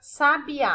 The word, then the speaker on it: sabiá: O A eu pronuncio com mais força, né? Então, o A aqui, tá sozinho na sílaba, é a minha sílaba tônica nessa palavra. Como ela é a última, então eu digo que sabiá é uma palavra oxítona.